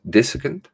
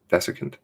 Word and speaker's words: desiccant: denturists use discon dis dissicant disa camp desiccant desiccant that's how it's pronounced because i sound like